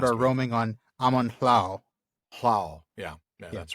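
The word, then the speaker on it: Amon Lhaw: roaming on Amon Hlao.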